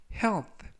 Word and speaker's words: health: 이번 표현은 health 라고 발음하시면 되겠고요. 끝부분에 있는 th는 번디기 발음으로써 라고 발음하시면 되겠습니다. 품사는 명사, 뜻은 건강이라는 뜻을 가지고 있고요.